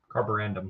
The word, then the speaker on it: Carborundum: I can't pronounce it. Carborundum.